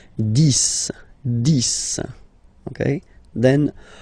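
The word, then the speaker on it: dix: 10, okay, so remember, final X here is pronounced like S, 10, 10, okay, then 11,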